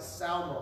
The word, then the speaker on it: Salmon: caught up in the whole name of salmon or salmon or some however you want to say it the research that I found it says that his pronunciation was closer to like a Selma like s-a-l-m-a but he got married